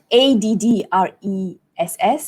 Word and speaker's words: address: or works okay so in British English it would be add dress a dress it sounds like oh I'm wearing a dress but that's how it is this dress falls on the second syllable address but in American